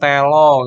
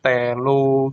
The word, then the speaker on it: telu: Biasanya kalau Jawa itu kan O ya, O itu dibaca O. Godhong telo gitu sama mama. Kalau orang bukan orang Jawa itu biasanya kan bacanya O. Godhong telu gitu.